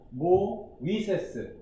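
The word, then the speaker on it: Μωϋσῆς: 근데 우리 입장에서는 뭐 정확한 헬라어 아나운서가 되기 위한 건 아니기 때문에 하지만 모, 위세스 이렇게 세 음절로 이렇게 발음을 해야 되는 거다.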